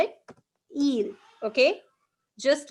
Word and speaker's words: ils: after who it's okay we don't pronounce the last letter that is e you can see it's i l s right so we don't pronounce the last letter we will just call it eel okay just like in